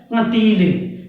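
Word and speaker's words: कँटीली: और एक दूसरा है कटीली। कटीली नाक से उच्चारण नहीं हो रहा है, दूसरे वाले का नाक से भी उच्चारण करना पड़ता है, चंद्र बिंदु का उच्चारण नाक से करना पड़ रहा है, ठीक है।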